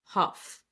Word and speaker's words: Hough: second week oh and Julianne Huff Huff that's how you pronounce it Julian Huff whatever anyway